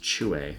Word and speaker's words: Que: but it's actually pronounced Chuer, which is the Chinese word.